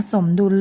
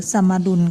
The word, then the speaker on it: สมดุล: ว่า และ สมดุล อ่า คำ นี้ อ่าน ได้ 2 แบบ นะ คะ สมดุล หรือ สมา ดุล ก็ ได้ ดุล ดุล